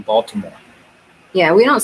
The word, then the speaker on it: Baltimore: is from maryland because she does not pronounce the t in baltimore yeah we don't say